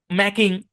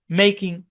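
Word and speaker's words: making: আপনারা অনেকে উচ্চারণ করে ফেলতে পারেন ড্রিভিং, রিডিং, ম্যাকিং, উচ্চারণ করতে পারেন, এগুলো প্রত্যেকটা কিন্তু ভুল উচ্চারণ। এগুলো কি ভুল উচ্চারণ। তাহলে এগুলো সঠিক উচ্চারণ কি? এগুলো সঠিক উচ্চারণ হচ্ছে ড্রাইভিং, রাইডিং, মেকিং, তাই না?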